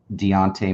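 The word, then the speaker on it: Dejounte: and assist for um Deontay Murray the Jay is silent I guess that's what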